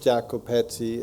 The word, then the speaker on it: Jacopetti: I understand it was that um the filmmakers Jacko petti and prosper is that correctly pronounced yes um were very interesting I find